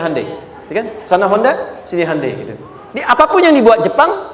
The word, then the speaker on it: Hyundai: bikin Honda sini HD hyundaikan dibacanya Handai sana apapun yang dibuat